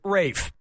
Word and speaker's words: Ralph: 3 yep ray Fiennes first name is spelled like ralph but pronounced Rafe and his brother Joseph